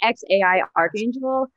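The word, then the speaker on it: X Æ A-Xii: I say XAI Archangel, but there was great dispute, I think, around the world and in my house, because I don't know. His name is malleable.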